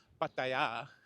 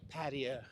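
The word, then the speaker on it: Pattaya: anyway several different ways apparently the correct way the Tai say it is Paya we say it Paya and then others people say it paa whatever so the middle pronunciation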